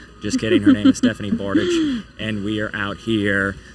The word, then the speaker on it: Bartage: It's pronounced Bartage.